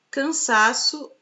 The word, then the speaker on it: cansaço: as demais são átonas na palavra cansaço a penúltima sílaba a sílaba tônica olha última eu sou